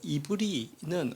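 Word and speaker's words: עברי: 히브리 이제 원어에 보면 발음은 이브리라고도 발음이 되는데요. 이브리는 어디서 나왔을까?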